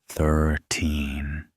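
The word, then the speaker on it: thirteen: 30 and 13 sound similar, but the stress is different. In 13, the stress is on the second syllable. 13. in 30. It's on the first 30.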